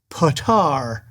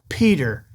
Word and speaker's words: Petyr: The narrator of A Game of Thrones pronounces Peter Baelish as Potar all the way through the book. Yes, it is spelled Petyr, but that is pronounced Peter.